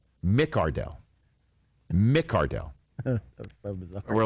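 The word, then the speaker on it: McCardell: to the fact that keenan mccardle came out and said no no no no no excuse me i am keenan mick ardell mick cardell we're like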